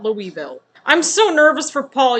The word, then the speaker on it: Louisville: for proper pronunciation purposes it's uh Louisville not Louisville I'm so nervous for